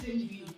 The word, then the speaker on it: Chisi: With me here is Chisi, right? Yes, Yes, Chisi. Don't know how Chisi. to pronounce my name.